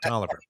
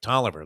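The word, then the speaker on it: Taliaferro: you pronounce it mike toliver it was spelt talofaro but it was like toliver like t-o-l-i-v-e-r mike toliver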